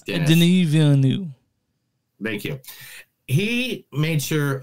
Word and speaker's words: Denis Villeneuve: I know it's Denis Villeneuve.